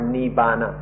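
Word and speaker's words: nibbāna: In Thai, this word is nippan, or in Pali, nippana, or written in the West, we pronounce it more nibbana, and then in Sanskrit, nirvana or nirvana.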